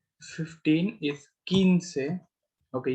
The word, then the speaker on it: quince: जैसे क्यू यू आई होता है तो हम उसको की पढ़ते हैं, एंड क्यू यू ई होता है उसको हम पढ़ते हैं के।